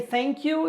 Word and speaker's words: thank you: For you to say thank you, you have to stick your tongue between your teeth and blow.